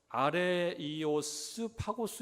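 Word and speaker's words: Ἄρειος Πάγος: 아래 오바고라고 써 있는데 오늘날 그리스 문화를 연구하는 사람들은이 아래 오버라고 발음하지 않고 아래 이오스 파고스 이렇게 발음한대요 그러니까이 말이 합성한 거예요 아래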